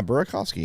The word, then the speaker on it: Burakovsky: Andre Burkovski. I was like, don't even. There you go. Yeah, just like it's spelled. Just like it's spelled. Yeah. Burkovski.